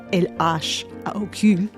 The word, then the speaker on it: L.H.O.O.Q.: When you pronounce those letters in French, L.H.O.O.Q., it sounds like a phrase meaning she has a hot ass.